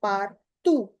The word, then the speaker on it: partout: The silence is le silence est partout. This is ou. T doesn't have any sound at the end.